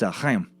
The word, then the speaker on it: Chaim: It's Chaim. Thanks for the pronunciation tips, man.